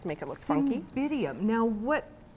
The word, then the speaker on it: Cymbidium: I'm going to do a cymbidium orchid arrangement. A cymbidium orchid? Yes. Cymbidium. Am I pronouncing that yeah, properly?